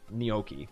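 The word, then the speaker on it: gnocchi: Cuz the G and N are pronounced as a as a as a as an N. Neokei.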